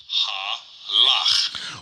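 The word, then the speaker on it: הלך: An example of this is this Hebrew word, which is pronounced halach.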